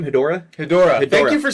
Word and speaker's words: Hedorah: Hedorah.